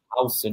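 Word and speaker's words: Huijsen: We have Dean Hson. That's how it's actually pronounced. That's what he said in an interview. Hson, not Hoist.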